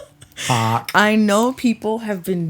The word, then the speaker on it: Haack: Everyone wants to say that you're a hack, but it's Hawk. Like 2 vowels. Like a rock. 2 of the same vowel.